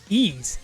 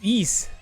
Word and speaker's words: Ys: It's actually pronounced ease or ease, I think, something like that. Looks like Y's, YS. I think it's ease.